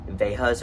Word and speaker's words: Veja: That's where I got my pair of Vejas or Vejas, which I know that's how you pronounce it, Veja, but like I just don't like that. I like Veja better, so that's what I say.